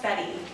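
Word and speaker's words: Bette: bet more bet more it's pronounced betty betty yeah like betty davis oh funny funny that's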